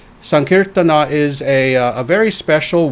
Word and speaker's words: sankirtana: sankirtana which is incorrect sankirtana is how you actually say this the a is is pronounced on the end sankirtana is a a very